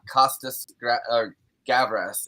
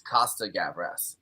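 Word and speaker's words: Costa-Gavras: make a little correction it's not uh it's not costas gavrez it's costa gabaras uh it's not plural i messed that up and then was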